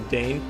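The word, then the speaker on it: deign: No, Dane pronounced Diane.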